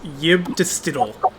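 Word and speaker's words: Yibb-Tstll: It's Yib-Distidal. It's a classic Lovecraftian name. Let me spell it out, but it's not going to help.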